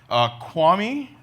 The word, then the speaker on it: Kiwami: wanted to do it Kwame is how it's pronounced kiawah me is like how it's spelled out on a recent trip